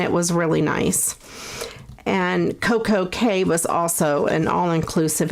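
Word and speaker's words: CocoCay: went to coco k is really should be coco key but they pronounce it royal caribbean pronounces it coco k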